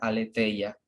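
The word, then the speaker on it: ἀλήθεια: que aquí está en griego entre paréntesis se pronuncia aletheia significa aquello que no está oculto lo que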